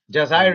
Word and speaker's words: Jazair: In Jazair. Jazair is how it's pronounced.